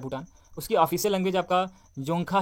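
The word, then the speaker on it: Dzongkha: उसकी official language आपका जोंखा है, ठीक है, यहाँ पर डी साइलेंट है, जोंखा है।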